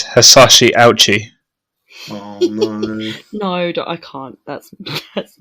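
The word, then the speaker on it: Hisashi Ouchi: your skin melted okay i've gone to a pronunciation site and it is is is hasashi ouchi no i can't that's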